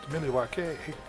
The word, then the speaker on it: Milwaukee: worthy we're not worthy milwaukee originally pronounced miley ykay according to alice cooper so this d-link two